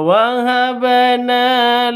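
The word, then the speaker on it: وهبنا: Huruf b sudah mati, ba sukun. Ah, ba itu surat qalqalah. Jika itu sukun. Nah, karena bacaan ini adalah qalqalah di tengah, artinya ini adalah qalqalah sughra. Bunyi tersebut harus diulang pada 'ba'.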